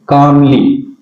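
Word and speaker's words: calmly: परिवार है बट लेकिन शी कामली सी कामली य पर देखिए एल का एल है व य पर साइलेंट रहता है तो कामली हैंडल्स हैंडल्स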